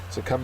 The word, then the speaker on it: succumb: last word finally is succumb succumb is a verb second syllable is accented it means to give